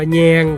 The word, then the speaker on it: แหย่ง: คำ ว่า แย่ง ครับ แย่ง เขียน สระ แอ ห หีบ ย่อ ยักษ์ ไม้ เอก งอ งู อ่าน ว่า แย่ง ครับ แย่ง มี อยู่